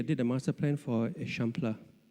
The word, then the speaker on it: Eixample: And he actually did a master plan for Eixample. I know you think it's spelled example, but it's Eixample in Catalonian.